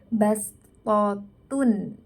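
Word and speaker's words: بسطة: Jadi kalau di tulisan nih ya, di tulisannya itu tulisannya adalah shad, tapi ketika kita baca itu seperti kita membaca sin, menjadi bastotun.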